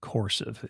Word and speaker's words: Coursiv: I'd recommend looking at an AI training program like Coursive. It's spelled Coursiv, and they teach you how to become an AI master in easily digested segments.